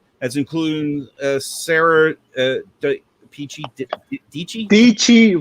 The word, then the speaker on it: Dietschy: DIETSCHY rhymes with Peachy.